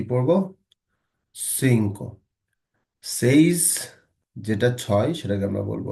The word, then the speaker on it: seis: Says, যেটা ছয় সেটাকে আমরা বলবো হচ্ছে সেইস।